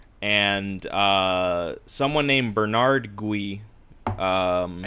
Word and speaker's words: Gui: uh someone named Bernard gu um I think it's just ghee ghee I think in in the French like Bernard G but I think the